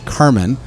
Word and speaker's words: Carmine: well it's spelt i it's pronounced i i've always pronounced it as carmen and uh even my older cousin is still here uh who lives in canada also goes as carmen but it's spelt like carmine so i always get